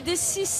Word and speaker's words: Dessy: Il y a un S à la fin, c'est important. Oui, pardon, bonjour. Vous perdez votre oreillette. Je perds mon oreillette. Oui, Dessy, parce qu'en fait, on le prononce vraiment à la provençale.